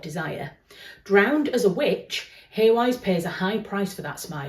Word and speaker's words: Hawise: Hawise ask, I do know that I'm pronouncing Hawise wrong, by the way. It's Hawise. Is it supposed to be Hawise or something like that? I've always pronounced it Hawise. I'm from Yorkshire.